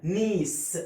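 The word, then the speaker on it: niece: نا والاي اي بتعمل لونج اي زي كلمه ايه؟ فيلد. زي كلمه بيس. الاي اي بتعمل لونج اي هنا نيس، والسي جاي وراها اي بنطقها صح.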